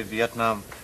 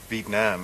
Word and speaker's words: Vietnam: for example if you you're supposed to say Vietnam Vietnam and if you say it like some of the Administration officials say it Vietnam it comes out meaning dying D well uh I'd be